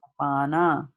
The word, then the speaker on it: apana: these words so correctly, because she read it as Sanskrit is read, right? And in Sanskrit, what happens in Sanskrit? Pran, Prana, pan. apana, vyana, samana, and udana.